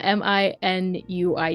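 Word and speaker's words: Minuit: a bit more very well Min is it minuette uh I don't know if I'm pronouncing it right uh m i n UI T Min Min okay got it minu what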